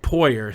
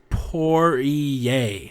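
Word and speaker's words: Poirier: not po but poyer so I read it and I just think uh think my buddy and read it like that but according to Hunter I think he he he said it's uh pronounced porier so porier um I hope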